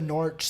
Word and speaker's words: Norwich: Could Jesse Lingard make it into the Norwich side? Yes. No, I don't think so. Because Todd Cantwell's Norwich, by the way.